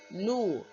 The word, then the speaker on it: nous: Like Winnie the Pooh, we say nous and vous. Alright, please note that pronunciation, okay? So nous, nous, nous. Like N-O-O, probably H at the end.